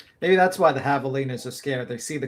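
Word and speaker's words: javelinas: Maybe that's why the Havalas are scared. They see the colors and they think it's like a predator nearby. Yes. And uh they're havalas, but the J is silent.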